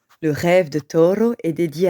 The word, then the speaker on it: Toro: jeune taureau nommé Taoro Toro aime que l'on roule le r lorsque l'on prononce son prénom car Toro est espagnol il vit au nord